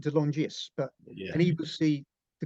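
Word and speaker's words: De Longis: Anthony delongis oh yeah I think they pronounced it Del longis but and he see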